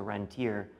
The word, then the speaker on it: rentier: as opposed to a rentier. This is one of the key facts. A rentier is right, the proper French pronunciation.